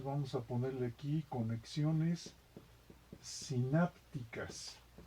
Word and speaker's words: sinápticas: Entonces vamos a ponerle aquí conexiones sinápticas, con acento en la A porque es esdrújula.